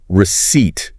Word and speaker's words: receipt: Okay, receipt. That's the little piece of paper you get after buying something. Proof of payment, right? Keep it for returns. Exactly. And that P silent.